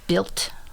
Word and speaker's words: Bild: It's B-I-L-D. Okay. Lily. But when I do the little translation thing, it's very much like built, kind of like a T sound.